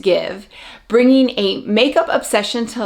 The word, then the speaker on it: GXVE: to finally be watching give and it is pronounced give even though it's g x v e it is pronounced give bringing a makeup obsession